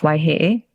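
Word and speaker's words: Waiheʻe: the policy and strategy team for Governor John Waihe. Is that how you pronounce that? Well, his name is actually pronounced Waihe.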